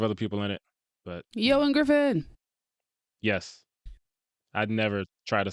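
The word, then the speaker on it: Ioan Gruffudd: There's a bunch of other people in it, but Ewan Griffin.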